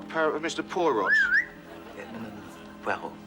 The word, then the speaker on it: Poirot: Poirot. It is pronounced Poirot.